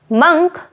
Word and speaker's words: monk: in the auditorium tonight the pronunciation of this word is quite similar to junk monk junk not Monk monk